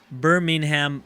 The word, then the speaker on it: Birmingham: Birmingham, but not like the pronunciation from Alabama.